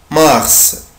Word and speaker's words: mars: foudroyé février février février mars mars mars mars charmeur et relègue ici je prononce la lettre s band africaine maite mars